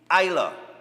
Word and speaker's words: Isla: Oh, sorry, baby Isla. All right, the S apparently is silent.